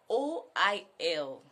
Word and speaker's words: oil: Okay, and the next word is O-I-L. Ibokweno. Ibokwezono. Wait, I don't understand. Is it a tongue or what? Instead of, it is pronounced normally as oil. Oil, very simple, very straightforward.